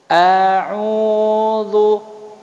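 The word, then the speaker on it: أعوذ: A'udzu. Jadi jangan malas mulutnya ya. A'udzu billahi minasyaitonir rajim. Biarlah seperti itu bacanya.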